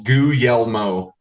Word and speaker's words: Guglielmo: It's kind of 3 syllables, Guglielmo.